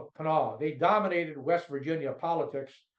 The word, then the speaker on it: Kanawha: firm was the headquarters, what they call the Kanawha Ring. It's a Kanawha River, which is pronounced Kanawha.